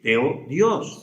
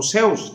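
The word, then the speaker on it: θεός: No, teología, logos, estudio, teos el estudio de Dios, teos o seos también en el griego se puede eh se puede se podría pronunciar de esa manera, hermanos.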